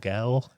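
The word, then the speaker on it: gaol: kill Manheim jail or goal G AOL L uh which is the old English pronunciation of jail but the kill Manheim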